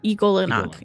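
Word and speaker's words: Y'Golonac: for anything specifically about Yolganak, or is that how you say it? Igolanak. Igolanak, yeah.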